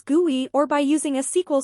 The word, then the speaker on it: GUI: either graphical user interface also known as GUI which is pronounced as guy or by using a